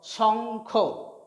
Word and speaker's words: শঙ্খ: Next দেখো, তালবস্য উময় খ, এখানে উম এবং খ যুক্ত হয়ে একটি যুক্ত বর্ণ বা যুক্তাক্ষর গঠিত হয়েছে, এটির উচ্চারণ হবে তালবস্য উময় খ, শঙ্খ, শঙ্খ মানে শাঁখ।